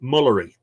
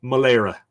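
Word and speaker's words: Mullary: a r y and you'd look at it and you say mullery but it's pronounced Mala I know H it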